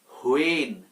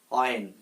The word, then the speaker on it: when: হোয়েন। হোয়েন বলি, হ এখানে আসবে না, এটার সঠিক উচ্চারণ হচ্ছে অয়েন।